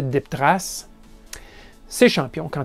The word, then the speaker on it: DipTrace: Je vous le prononce en français DipTrace.